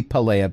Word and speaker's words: Pelea: about palaea voidbonded and i'm going to retcon the name to be pelea because i've been mispronouncing the name i made up the entire time i've been saying it so i'm just going to change it to what i'm saying and the information inside